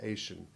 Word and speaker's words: Asian: words noting that although you will sometimes hear asian pronounced with the same s sound as vision it is better pronounced with the sh sound for the soft g2